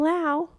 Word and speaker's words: Laos: He go, "I'm going to Vietnam and Lao." Like, he's going again. Like, what? I said, "Do you mean Laos?" like what you're being I'm like he said we don't pronounce the S.